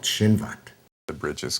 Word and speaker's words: Chinvat: It was a bridge called Shinvat. The bridge is called Chinvat, and this is a sort of bridge of judgment.